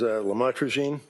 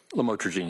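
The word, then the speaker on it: lamotrigine: about the u the lamel otherwise known as lamatraine. Did I pronounce that right? Lamotraine.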